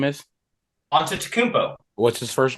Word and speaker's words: Antetokounmpo: Giannis Antetokounmpo. It's not that hard to pronounce.